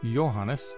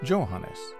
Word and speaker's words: Johannes: and finally to John in German A J is pronounced like a y in English hence Johannes rather than Johannes unlike the English tradition